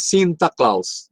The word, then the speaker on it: Sinterklaas: Y Sinterklaas, el nombre que se pronuncia en holandés Sinterklaas, y de ahí Santa Claus, ¿no?